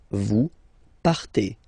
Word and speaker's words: partez: Okay, then for vous, classic ending for vous as well, EZ, but then you pronounce it E. Vous partez.